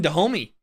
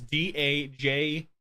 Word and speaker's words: Dajome: I don't remember the right way to pronounce his name, so I just call him Dahomey. His name's Dajome.